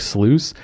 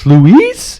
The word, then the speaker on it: Sluice: project sluice is that we take it for granted that people know how to pronounce that word oh so many people are like louise is that how you because it's like a french thing too they're like and i'm like no man it rhymes like i'm tempted to call the next record rhymes with juice there you go oh